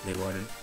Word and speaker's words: Leeuwarden: It's in Dutch, it's Leeuwarden. So, but that doesn't sound English at all.